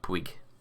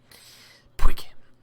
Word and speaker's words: Puig: It's like Puig. It just sounds like a noise that you make when you're spitting something out. Puig.